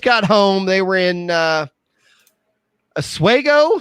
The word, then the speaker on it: Oswego: So it was Oswego, like in Oswego. Oswego, New York. Oswego? I know. Osweego is how she's pronouncing it.